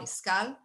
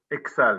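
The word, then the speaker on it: Iksal: member of his hometown iskal thank you for joining us sir excel not skal all right sorry about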